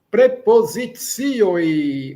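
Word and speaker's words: prepozicioj: Lembrando que o C tem um som de TS e o J, quer dizer, tem um som de O, indica o plural. Prepositioi. Relembrando que todas as palavras, a acentuação é na penúltima sílaba.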